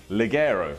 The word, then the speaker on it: Ligero: El, take a pause, Ligero.